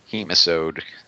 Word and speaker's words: Hemisode: Hemisode rhymes with nematode.